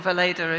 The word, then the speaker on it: Weleda: We're a pharmaceutical company, so Weleda or Weleda if you're Swiss or German, which is where we're based. That's how you pronounce it.